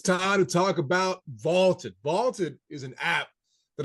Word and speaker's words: VLTED: Vaulted is spelled VLTED, and it is the